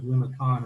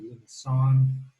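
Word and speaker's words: limaçon: This is called, if you know any French, there's a little thing called a cedilla that softens the C. So instead of limicon, it's called, it sounds like an S. So it's a limicon, how that's pronounced.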